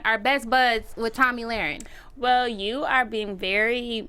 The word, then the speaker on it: Lahren: You call her Lauren. I think Oh, it's well. Lahren.